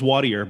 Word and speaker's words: Wattier: pronounce your name properly the last name is watier but ironically it is french and uh i don't